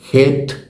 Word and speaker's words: חי: 2ஆம் 4ஆம் எழுத்துக்கள் ஹேத், யோத். இந்த 2 எழுத்துக்களை இணைத்தால் அது ஹை என்ற உச்சரிப்பில் வரும்.